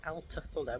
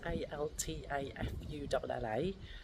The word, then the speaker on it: Altafulla: So a little correction, it's pronounced Altafulla, which is Altafulla, and the thing I referred to, or the